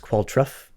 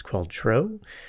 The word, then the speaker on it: Qualtrough: Sometimes I've heard that pronounced Qualtrough, but I think it's Qualtrough.